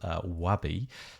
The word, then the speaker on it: Wabi: One of them is called Wabi, W-A-B-I, and one of them is called Way. I think I've pronounced that correctly.